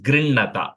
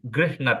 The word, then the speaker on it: गृह्णत: Say grihnata, அது கொஞ்சம் h is little bit of a silent h அந்த இடத்துல. Okay. You don't have to say grih. Fulla அப்படி சொல்ல வேண்டாம். Grinnata, little h is good. Either is okay. It's not technically wrong too much.